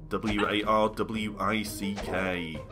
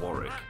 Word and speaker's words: Warwick: how you spell war wari is actually the name of a place and um a pretty nice Castle actually in England and it's spelled w a r w i c k that's not Warwick that's wari and Warick doesn't have